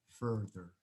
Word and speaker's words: further: Bueno, porque al tener una A, yo lo pronuncio con una A larga, farther. Al tener una U, lo pronuncio con una E, further.